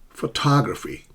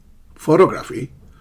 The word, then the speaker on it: photography: Photography. Photography. Not photography, not photography, photography, and guarantee. Guarantee. You see how stress shifts from the primary syllable to the intermediary syllable and then the final syllable, guarantee.